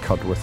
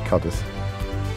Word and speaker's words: Cudworth: to dory's watch and I should have known that cudd with would be cudders near Barnsley cut Us near Barnsley